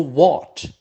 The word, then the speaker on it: watch: We have a verb to watch, pronounced o, to watch.